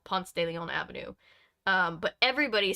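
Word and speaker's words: Ponce de León: pronunciations as a foreigner it's definitely Ponce de Leon not Leon yeah it's Ponce de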